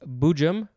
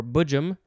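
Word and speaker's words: boojum: melodic variations next is i think it's pronounced bujum or bujum b-o-o-j-u-m it is a noun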